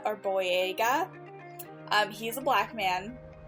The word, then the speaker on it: Boyega: pronouncing stuff but i think his name is pronounced john boyega or boyega um he's a black man in my opinion